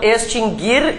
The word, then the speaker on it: extinguir: o u né então extinguir e distinguir inclusive todas as suas conjugações nunca teve trema o u nunca foi pronunciado nada mudou então né Tá o que